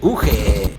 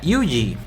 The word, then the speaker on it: Ugee: de los chicos de UG, o creo que se pronuncia Yuji.